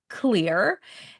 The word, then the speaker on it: Xlear: It's pronounced Xlear.